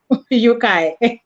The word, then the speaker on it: Yeukai: People can't pronounce my name. I'm called eucalyptus, almost like eucalyptus, Yeukai.